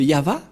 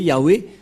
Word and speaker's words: Yahvah: langue hébreu voilà donc le terme yava yava et on va voir comment on prononce cette parole et nous allons voir s sens par ici puisqu'il s'agit d'une fausse transitération par les catholiques romains qui ont utilisé Yahé un terme qui n'existe pas c'est pourquoi ilont enlevé